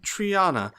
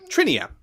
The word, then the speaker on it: Trinia: sorry I'm sorry uh my name's Triana a pleasure or I'm sorry trinia uh how do you pronounce that t r i n i a trinia trinia my name is trinia um thank you uh